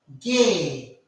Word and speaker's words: Ge: Now the next letter is this, and we pronounce this letter as gay. We pronounce this letter as gay. As we have a term in English, gay, so we pronounce this letter as gay.